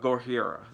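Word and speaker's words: ゴジラ: Like, because we don't have a name for it, and they say Godzilla or Gojira. That's how they say it in Japan.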